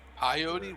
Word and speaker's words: peyote: Peyote? What's peyote? It's peyote. Peyote. He just Peyote. can't pronounce it.